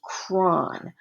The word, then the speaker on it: chron: The letters that are left after separating the prefix and suffix are CHRON. I think that's pronounced cron.